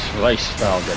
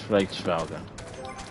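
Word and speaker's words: Hraesvelgr: You don't pronounce the H. So it's Hraesveglr then. Not Haste, not. Yeah, so it's Hraesveglr.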